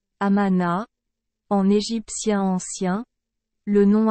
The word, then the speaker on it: Amon: Prononcé Amana, en égyptien ancien, le nom Amon signifie « caché » ou « invisible ».